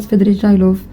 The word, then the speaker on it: Svidrigailov: And when Raskolnikov and Svidrigailov, I just realized his name is Svidrigailov, not Svidrigailov, and I was saying it wrong this entire time.